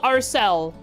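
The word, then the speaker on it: Alseiles: I pronounced it the Arcila. People said to say Arce, and Laura says Arcel. So, I'm gonna go back to Arsila, and because that's what I called it all the way through until someone told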